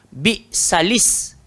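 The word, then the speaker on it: بئس الاسم: Tapi dalam ayat ini kita kena sambung. Bi'salis. Bi'salis. Nampak tak Syarul? Okey tak? So cara baca dia bi'salis.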